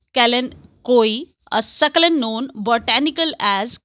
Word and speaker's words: kalanchoe: store or garden center chances are it's a kalanchoe pronounced callan koi a succulent known botanical as kalanchoe do you